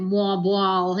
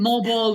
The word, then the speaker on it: Moalboal: And I'm going to apologize because for me to pronounce it's Moalboal. That will do. It's more of a sort of a Jamaican accent, Moalboal. It's but Moalboal, yeah. Moalboal will do fine.